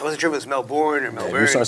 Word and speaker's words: Melbourne: if you've been to Australia, you say Melbourne the way everyone else says Melbourne. It's not Melbourne, it's Melbourne. Really? Yes. Okay. Makes it easier almost. I wasn't sure if it was Melbourne or If Melbourne.